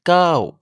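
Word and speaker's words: เก้า: Le 9 se prononce KO. La première lettre est entre un K et un G, et l'intonation démarre dans les aigus pour descendre vers les graves. KO. En thaï, il ressemble au mot KO, qui signifie avancer, aller de l'avant.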